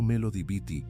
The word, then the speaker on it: Melody Beattie: La investigadora Melody Beattie, pronunciado Melody Beattie, que pasó décadas trabajando